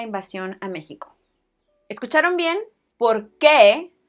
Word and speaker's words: por qué: ¿Por qué? As opposed to porque. Why? Because? ¿Por qué? Porque. This pair is very important in the Spanish language, so make sure that you get the pronunciation right.